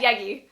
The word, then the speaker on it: Yagki: your name right yeah yagi okay it's a white one yeah i'm like yaki or yagi the k is silent oh there you go